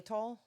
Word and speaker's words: Xylitol: Xylitol. Yes, there you go. Xylitol is a natural sweetener that prevents cavity-causing bacteria from sticking to teeth. The bacteria. Xylitol is in pretty much any sugar-free gum.